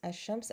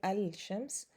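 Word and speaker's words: الشمس: not pronounced like al hashems ashams i don't pronounce i don't say al-shams so that would be a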